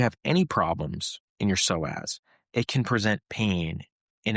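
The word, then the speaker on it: psoas: Now, we talked a little bit about the soaz muscle. And the soaz muscle, it's spelled P SO A S.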